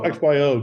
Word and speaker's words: XYO: to pronounce is it did you just say the abbreviation the xyo or is it like zo or Zio let's go xyo because it stands for X Y Oracle um because it's a